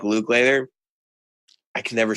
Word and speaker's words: Lukather: Yeah, but I think a lot of the time, even today, somebody like Luke Lather, I can never say his name right. Lukather.